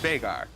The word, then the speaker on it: Veigar: It's an Icelandic name, and it's actually pronounced Veigar. You hear a lot of people say Veigar, but I know the actual human. Okay. I lived with him, and it's pronounced Veigar.